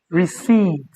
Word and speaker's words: receipt: Receipt. And this guy is silent.